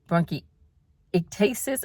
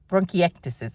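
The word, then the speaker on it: bronchiectasis: I didn't count on bronchi broncasis. I say it wrong, guys. bronchiatasis. Bronacti, bronchiactis is what it is.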